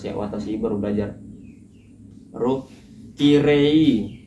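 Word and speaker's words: きれい: Watasi baru belajar baru kirei. Kirei itu k r kiri ya. Terus cara bacanya itu kan tulisannya kirei. Terus cara bacanya itu kire gitu cantik ya kan.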